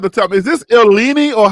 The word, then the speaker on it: Illini: Is this Illini or how did y'all say this? Illini.